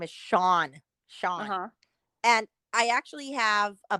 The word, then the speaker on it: Sean: head it's just weird say scen like like Lean l EA an that's how I thought you pronounced it forever was like scene until like somebody said I'm like oh it's actually Sean this is obviously when